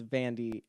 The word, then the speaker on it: Vandy: my last name and I just like that it rhymes with Danny so it's Vandy and Danny and then